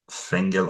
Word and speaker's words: Fengel: It rhymes with Thengel, which is a Mhm.